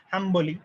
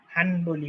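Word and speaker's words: حنبلي: ওই একই রকম হাম্বলি, আমরা হাম্বলি বলি, হানবলি বলি না, কিন্তু বানানটা কিন্তু হানবাল, হানবাল, কিন্তু বলে হানবাল।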